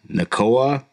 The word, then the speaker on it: Nacua: And then this other kid, I can't even pronounce his name, man. Puka Nacua.